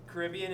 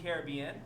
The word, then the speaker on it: Caribbean: Oh, Caribbean and Caribbean.